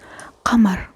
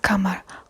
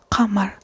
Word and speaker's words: قمر: It comes from the bottom of your throat, qamar, not qamar, qamar, qa, qa.